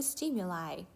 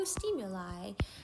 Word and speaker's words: stimuli: 근데 뭐랑 뭐 사이의 차이점이냐면 between two stimuli, 두 가지의 자극 사이에서의 차이점. 요거는 stimuli 아니고 lie라고 읽는다?